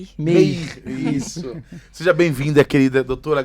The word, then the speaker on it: Meir: Meir. Meir, isso.